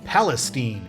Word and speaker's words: Palestine: And we leave I45 or 287 South Palestine.